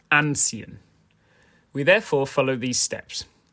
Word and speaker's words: anziehen: to the fact that the stress is on the first syllable of ancient we therefore follow these